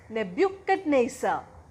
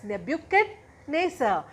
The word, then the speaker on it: Nebuchadnezzar: It is Nebuchadnezzar. Can you pronounce it? Yes, it's Nebuchadnezzar.